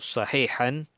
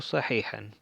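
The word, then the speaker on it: صحيحًا: con esto, fama arahu sahihan, pues yo no lo veo correcto. In tarahu sahihan, fama arahu sahihan. Sahihan, esta sa, acuérdense pronunciar bien la sot, esa es la letra sot, so, y no sa.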